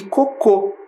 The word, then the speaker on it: cocô: Foi o caso da palavra coco, que não tem acento, e cocô, que tem acento lá na última sílaba.